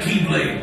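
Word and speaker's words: χ-blade: means the X blade it's just pronounced like keyblade even though it's just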